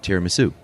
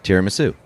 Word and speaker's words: tiramisu: Tiramisu. That is what it is. I thought somebody was Did they say like it's tiramisu? Tiramisu. Oh, it's like te, not tier.